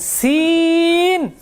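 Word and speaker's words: سين: সি সি সি সি সি লাস্টে দন্তন লাগায় দিবেন সিন সিন টান কম হবে না বেশি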